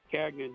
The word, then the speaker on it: Gagnon: Kagna G A G N O N.